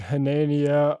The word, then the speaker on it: Hanania: mess it up uh his name is Richard hanania um people may know that he went by